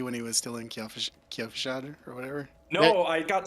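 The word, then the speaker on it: Kyovashad: It's Kjolfshad.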